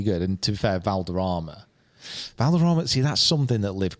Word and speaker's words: Valderrama: If it's in Spain, would you like to pronounce it in your Spanish accent? Valderrama.